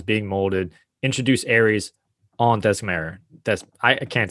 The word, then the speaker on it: Themyscira: I always mispronounce it. Themyscira.